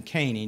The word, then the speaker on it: Caney: And it's funny because Jeff Jones called me yesterday asking me for us to have in, I pronounce his name Caney, David Caney, in, and he has surrendered to the mission field.